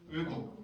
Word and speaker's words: 외국: 여러분들이 읽듯이 읽으면 우외국이죠, 그죠? 이중모음이잖아요. 단모음으로 발음 정확히 해봐요. 어떻게 돼요? 의국.